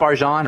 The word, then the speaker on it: Arjan: York hey what's up arjan orjan how do you say your name uh just like the way you say it it's the correct way arjan arjan okay good